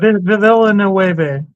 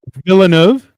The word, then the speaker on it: Villeneuve: Marco, pronounce that name for me. What? Villanueva. Is that how you say it? Villeneuve.